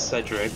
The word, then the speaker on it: Cedric: you say his name you nearly said it right it's Cedric oh Cedric yeah you kind